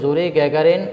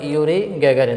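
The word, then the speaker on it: Юрий Гагарин: তো যিনি গেছিলেন ওনার নাম ছিল, এই যদি এখানে আমরা ওয়ার উচ্চারণটা জ্বর মতো ধরি, জুরি গ্যাগারিন অথবা ইউরি গ্যাগারিন। তো আমরা জুরি গ্যাগারিনটাই ধরি, কারণ উচ্চারণটা এভাবে আসে।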